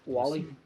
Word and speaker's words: Whaley: So her name's Joanne Whaley, if I'm pronouncing that right. yeah, that looks right. Yeah. Wally.